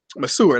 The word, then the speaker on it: masseur: And masseur, that's how you say it, right?